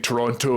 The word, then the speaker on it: Toronto: find it weird saying Toronto as well because I'm half Canadian so the right way to say it is Toronto Toronto you don't say the tea but now I say